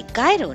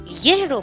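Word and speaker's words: gyro: इसे गायरो नहीं येरो प्रोनाउंस किया जाता है।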